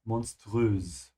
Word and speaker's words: monströs: Yeah, in this case, it's not a sh, monströs. Because it comes from the word monster, yeah? Which comes from English.